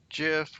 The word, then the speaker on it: GIF: ping format and and gif or gif for the people that like the hard g but all the other